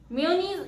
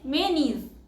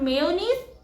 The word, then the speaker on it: mayonnaise: Mayonnaise is a very common word. And the correct pronunciation is mayonnaise. It's not mayonnaise, it's mayonnaise.